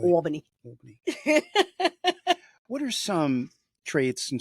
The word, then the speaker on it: Albany: Albany.